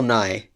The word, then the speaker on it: Nighy: I believe Davy Jones is played by Bill Nye. You don't mean Bill Nye the Science Guy. No, no, not him. That Okay. not him. It's a completely different guy. Okay. His last name is spelled Nighy.